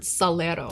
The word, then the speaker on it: salero: spanish say the word salero salero salt shaker salero salero this r is made with a flap of the tongue on the ridge behind the front teeth that's not too far